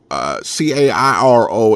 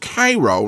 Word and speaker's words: Cairo: lived in the Midwest knows that that Cairo CAIR o Illinois is pronounced Cairo not Cairo so the mere fact of the